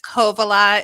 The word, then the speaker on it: Kovala: It's Kovalea. It's fairly It's just the emphasis of the beginning syllable. So Kovalea.